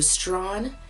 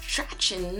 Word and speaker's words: Strachan: If somebody was giving you directions to go to Strawn, you would go right past this name. No, what street is that? No, that's Strachan. No, we want Strawn. Another silent one.